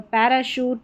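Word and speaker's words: parachute: श पढ़ा जा रहा है सी एच को यहां पर पैराशूट शैंपेन और यह है शेफ।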